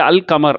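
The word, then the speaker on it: القمر: ஒரு முக்கியமான காரணம் அப்படின்னு சொன்னாக்க இந்த அஷம்ஸ் அப்படின்னு சொல்கிறோம், இது அல் கமர் அப்படின்னு சொல்கிறோம். அப்போ என்ன ஆயிருக்கு அப்படின்னு சொன்னாக்க இந்த அல் கமர்னு சொல்கிறதுல அல்லு வெளிப்படுது, அஷம்ஸ்ன்னு சொல்கிறதுல அல்லு வெளிப்படலை.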